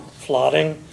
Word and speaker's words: Fladung: Sure, it's Flooding. The spelling is Fladung. It's pronounced Flooding.